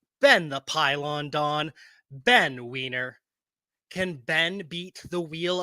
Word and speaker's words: Weiner: Believe it or not, my last name is actually pronounced Weiner.